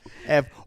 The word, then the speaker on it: Eevee: Ev we we added a couple of E's at the end, but it's Ev. It's F. It's Ev. It's just spelled different.